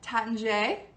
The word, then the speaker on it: Taittinger: going to butcher it, the correct way is to say it Taittinger. And if the French wine tutor is in the house, she is the person to go to for all French pronunciations. So check her out. Anybody feel free to correct me or phonetically spell it in the comments, but I believe it's Taittinger, which sounds a lot better than Taittinger.